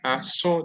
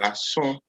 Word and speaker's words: aso: And we pronounce it as, yes, who tried for us? Irama, number 3. Try. Ason, that's very good. That's very good. Ason. So Ason. So Ason is the human ear.